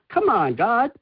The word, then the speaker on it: Camongd: It's spelled c a m o n g d. So, think of it as "Come on, God." But it's actually c a m o n, which is come on.